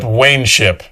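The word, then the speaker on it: Wanship: Mispronounced. Yeah. Wshipip. Wship. Wayneship.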